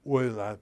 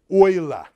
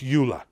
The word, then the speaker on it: Euler: people in history of s pronounced OA not Ula never say ula and uh sort of